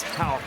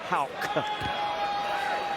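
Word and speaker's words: Haugh: off the assist to Houck. Already in double figures, now with a dozen. And it is Houck if you're watching this. I know it's spelled H-A-U-G-H, but it is pronounced Houck.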